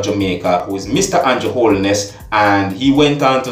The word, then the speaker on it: Holness: It is Mr. Andrew Holness, not Holiness.